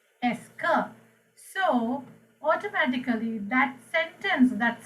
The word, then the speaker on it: est-ce que: If you put the word "esker," this is pronounced as "esker." The entire part is pronounced as "esker."